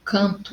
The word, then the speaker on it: canto: Esse encontro vocálico, quando eu digo canto e campo, eu não tenho o som do M. É como se eu tivesse o tio em cima do meu A. Ó, canto, campo. É como se eu falasse pelo nariz, som nasal, porque é representado pelo tio.